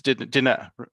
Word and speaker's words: Diné: Lenny is of the Diné. I believe it's Diné. Is that the correct Mhm.